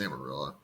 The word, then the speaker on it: Amarillo: over to Amarillo um am I saying that right Amarillo I assume it's Amarillo yeah yeah it is it actually yeah it's Amarillo there's a lot of like Spanish words in Texas that you pronounce like a white person because yeah yeah it's